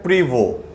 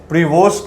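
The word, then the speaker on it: Prévost: अब दोस्तों देखो, एक टर्म लिखा हुआ है बोर्ड के ऊपर, देखो आप, इसको हम लोग प्रोनाउंस करते हैं प्रीवो। प्रीवोस्ट भी कुछ लोग बोलते हैं, लेकिन इसका एक्चुअल प्रोनाउंसिएशन है प्रीवो।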